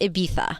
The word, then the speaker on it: Ibiza: Our characters say Ibiza because we're Americans, but it's correctly pronounced Ibiza.